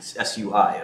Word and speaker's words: Sui: Taking cash and putting it into Aptos or Sui, S-U-I, I never knew how to pronounce it, Sui.